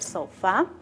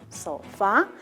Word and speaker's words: sofá: Como por ejemplo, el mismo ejemplo de arriba, vamos a ver sofá, sofá. Entonces, ¿cuál es la sílaba átona? Está con color azul, es so, ¿no?